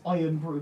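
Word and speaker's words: Irn-Bru: It's Iron Brew, but it's spelled with no O.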